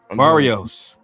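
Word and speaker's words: Barrios: How do you pronounce his name? I forgot. Barios. Barios.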